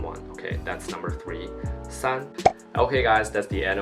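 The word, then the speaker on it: 三: and with the first tone it means it pronounces son son son which means three 300 million that's son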